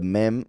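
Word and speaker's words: מי: already know, remember that this word right here, mem yud, without the vowel points, of course, just mem yud, can also be pronounced and would be pronounced me, which means who, right?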